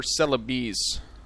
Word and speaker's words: Celebes: then this peninsula of Celebes here. So that's the plan, or Celebes. That's what it's pronounced as.